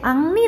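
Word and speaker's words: Henri: 헨리 마티스에 근데 여러분 헨리 마티스가 프랑스 사람이라서 헨리라는 발음을 할 때는 사실 앙리 아고 발음을 해요 프랑스어로는 아무튼 앙리 마티스에 의한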